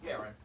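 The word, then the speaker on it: Aeron: see Aon or Aon how is that actually pronounced Aaron Aaron but it's spelled weirdly let's hear it for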